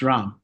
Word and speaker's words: Ram: Ram or Ram? Ram, it's Ram.